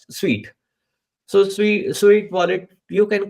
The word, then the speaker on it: Sui: I found this particular wallet, Sweet wallet, a Sweet wallet, Suit. It's pronounced as Sweet.